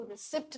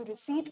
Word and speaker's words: receipt: Proud of यू कि आप इसको रिसिप्ट नहीं प्रोनाउंस करते हैं, आप इसको रिसीट प्रोनाउंस करते हैं, क्योंकि आप जानते हैं कि यहाँ पे जो पी है वो साइलेंट होता है।